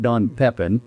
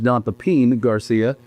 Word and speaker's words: Don Pepin Garcia: And it is pronounced Don Pepin, not Don Pepin. As I've said a million times on camera, it is Don Papin Garcia, which uh is Ammy Garcia's father's name.